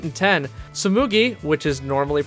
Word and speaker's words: Tsumugi: And here's the wildest thing about the Tumugi pronunciation. In episode 10, moments before the mistake, Ritsu pronounced Tsumugi correctly.